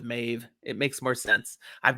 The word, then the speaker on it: Maeve: difference in pronunciation here i've always said maeve as some might say mav but i got queen mab so i don't like mav right there i go with mave it makes more sense